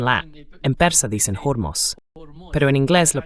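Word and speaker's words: Hormuz: En Persa se pronuncia Hormos.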